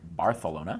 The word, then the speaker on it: Barcelona: We went to Barcelona, which they pronounce with a TH, like Barcelona.